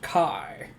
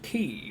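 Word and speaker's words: χ: The X means Kai. It can also be pronounced key, but the meaning is the same.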